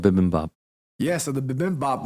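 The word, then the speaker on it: bibimbap: eat B poop every day actually it's called bibin Bop yeah so the bibim Bop was good um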